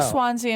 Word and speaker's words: Swansea: though there is a Swansea in Massachusetts but it's called Swan like it's spelled out swans s w NS E A SW along along the